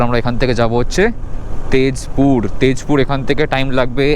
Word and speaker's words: তেজপুর: laptop সমস্ত কিছু নিয়ে যাব হচ্ছে তেজপুর এখানকার তেজপুরের উচ্চারণ হচ্ছে তেজপুর মানে আমরা যেটাকে জ উচ্চারণ করি